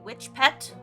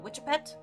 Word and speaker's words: witch pet: Uh, some people just call it a witch pet, which some people end up like mispronouncing to witchet.